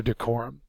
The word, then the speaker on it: decorum: all that falls under decorum it's a noun and it is the second syllable accented means proper behavior or